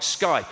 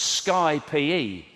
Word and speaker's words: Skype: I thought it was Sky Pee. Like a version of Sky Sports.